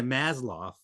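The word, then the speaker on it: Maslow: country pay according to masloff maslo depending if you pronounced W uh according to his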